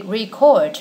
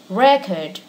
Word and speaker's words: record: we have to say record or record now listen this record is unbreakable or this record is unprintable so we stress the first syllable when this word is a noun and the second syllable